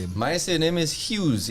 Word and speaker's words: Hughes: My surname is Hughes. H U G H E S. Some people like to call it, some people pronounce it huge, some people pronounce it hug hug head.